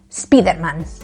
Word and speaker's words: Spider-Man: But now the word that's most commonly used to say Spider-Man is Speederman. That's right, Speederman.